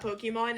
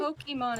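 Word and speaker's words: Pokémon: that, or over the past couple days, that I know nothing about Pokemon and I will never understand it. It's not Mhm. Pokemon, it's Pokemon.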